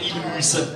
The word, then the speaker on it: Mulhouse: Colmar au centre, prononcé Colmar, et puis Mulhouse au sud, prononcé Mulhouse.